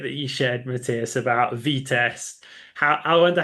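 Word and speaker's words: Vitest: It's written I and it's pronounced E.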